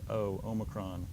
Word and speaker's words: Omicron: be like ocean and this is the Oh like in the word note in English shorter a little bit shorter again that distinction is not made but we pronounce it as Omicron so like logos this